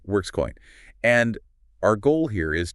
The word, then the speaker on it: WrkzCoin: It's a WRKZ coin, often pronounced Workscoin, right? Workscoin.